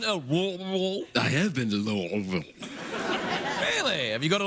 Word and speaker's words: Louisville: All right, this is from Antonio in Louisville, Kentucky. You ever been? Oh, you can't. You know, you don't say it like that. You say. You ever been to? I have been to Louisville.